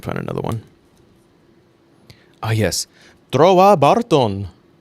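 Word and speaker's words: Trowa Barton: Trova Barton. That's how they say it in the show.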